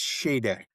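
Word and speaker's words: Sade: Um, I thought it was Shade or Shade, but it's pronounced Shade.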